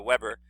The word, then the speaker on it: Weber: name of max weber he's german so it's pronounced weber not web uh weber um germans pronounce their w is like these